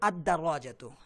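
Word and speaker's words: الدراجة: দেখুন সাইকুল কিতারি, এখানে আলিফ লামটা উচ্চারণ করছি, সাইকুল কিতারি, আল কিতারু, আল কিতারু কিন্তু আদ-দারাজাতু, আল কিতারু আর আদ-দারাজাতু, আদ-দারাজাতুতে এই আলিফ লামটা উচ্চারিত হচ্ছে না, লামটা উচ্চারিত হচ্ছে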